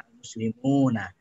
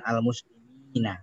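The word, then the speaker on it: الْمُسْلِمُونَ: Jadi al-muslimun, bacanya al-muslimuna, bukan al-muslimina, bukan.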